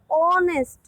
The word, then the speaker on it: honest: It starts with H, but H is silent here. And we pronounce it honest.